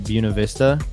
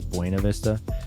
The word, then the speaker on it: Buena Vista: called Paddle Fest in Buena Vista. I think is the correct pronunciation. Everyone says Buena Vista, but Buena Vista, it's like southern Colorado off 285, the Arkansas River.